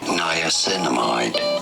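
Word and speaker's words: niacinamide: Niainamide.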